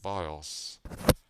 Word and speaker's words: BIOS: So it's pronounced BIOS, Basic Input-Output System.